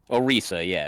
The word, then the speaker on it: Orisa: Let's see, Orisa, how do you pronounce her? Orisa, yeah, she was cool.